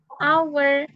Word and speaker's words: hour: maka kita tetap menggunakan Beda dengan ini. Hour. Nah, Hour. Iya. jam 1 jam berarti An hour. Ini kan hanya nggak bisa dibaca, langsung hour, an hour.